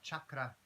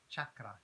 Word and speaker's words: chakra: And first and foremost, chakra, the word itself, chakra, is pronounced as such. It's chakra, chakra, chakra, rather than chakra, which is a common misinterpretation in our Western society.